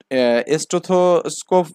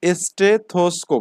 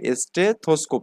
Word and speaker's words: স্টেথোস্কোপ: এখানে ওকে যাই হোক এই উচ্চারণটা হচ্ছে আমাদের স্টেথোস্কোপ এখানে ওকে স্টেথোস্কোপ এখানে যদি একবারে মুখে